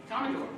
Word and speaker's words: Commodore: Commodore. Look at that. It's spelled differently on my thing.